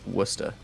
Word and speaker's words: Worcester: I like to say Worcester to make fun of people, but it's pronounced Worcester.